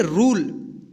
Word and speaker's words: rule: तो यू का क्या होगा यू या यू उच्चारण होगा और लास्ट वाला नहीं होगा देखिए क्या पढ़े इसको रूल इसको रूल नहीं पढ़ेंगे क्या पढ़ेंगे रूल तूने इसको तूने नहीं पढ़ेंगे क्या पढ़ेंगे तूने